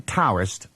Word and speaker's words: Taoist: So it's written Taoist and pronounced with a D, Taoist.